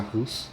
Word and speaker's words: Sarrus: fazer assim escrevi método é de pronunciar essa carros né mas se escreve sacos 1 e esse método